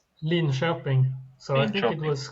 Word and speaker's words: Linköping: How we pronounce it in Sweden? Linköping.